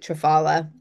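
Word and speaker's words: triphala: Um out of those, if I were going to choose one, I would choose trfola because and some people pronounce it trfala. It it doesn't matter, but um that is a balanced formula.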